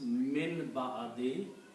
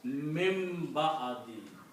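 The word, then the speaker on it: مِن بَعْدِ: It becomes min ba'adi. And when ba and noon comes together, they come together, the sound of noon changes into sound of mim with the hunna. So you pronounce mim ba'adi.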